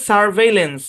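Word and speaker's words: surveillance: হচ্ছে ভর আর লেন্স একই কনস দুইবার থাকলে একবার ধরে উচ্চারণ করতে হয় এই সম্পূর্ণ শব্দের উচ্চারণ হচ্ছে সারভেলেন্স সারভেলেন্স কি উচ্চারণ সারভে সারভেলেন্স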